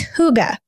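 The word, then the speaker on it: hygge: to say it correctly we looked up the pronunciation and she has it in her book but it's Huga so it's a Danish word if any of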